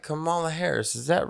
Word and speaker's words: Kamala: from some little friends it's not camella it's not kamala it's not canela it's kamala kamala harris